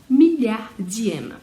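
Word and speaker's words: milliardième: Então, note que as consoantes que antes nós não pronunciávamos no final, agora, por causa dessa sílaba nova que foi acrescentada, o iema, então a consoante ela é bem pronunciada, milhardième.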